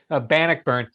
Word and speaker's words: Bannockburn: And Marc, I always mispronounce Bannockburn Forex. Is that correct? Bannockburn.